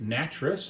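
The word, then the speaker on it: Nattress: Rick Natric, I remember that one because I thought his name rhymes with mattress if you're saying it that way.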